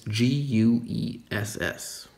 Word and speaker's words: guess: the mouth vertically and for guess it's more horizontally so the gas versus